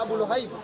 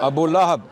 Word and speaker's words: Abu Lahab: Abu Lahab. Abu Lahab, not Abu Luhayb. Abu Jahl. No. He said Abu Jahl, Abu, you said Abu Lahab. I'm correcting your pronunciation of Abu Lahab. You said Abu Lahib.